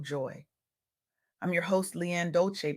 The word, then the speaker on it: Dolce: I'm your host, Leanne Dolce, pronounced dolce like sweet softness whispered in French.